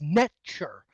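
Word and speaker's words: nṯr: But if you actually pronounce the word in Egyptian, it's necture.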